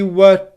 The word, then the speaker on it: were: talking we were talking listen to how it becomes unstressed nice and slowly we were talking we were talking we were talking can you hear how quiet it is it's much shorter than the syllables on either side of it and it almost disappears but it's just there very subtly we were talking my